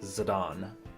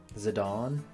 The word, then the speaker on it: Zidane: but the proper name the proper way is zadon so that's what I'm trying to do for this playthrough I'm glad you like muvr Jason Zorn and Thorn these punks skip through their banter they're annoying zadon yeah that's how apparently that's the real pronunciation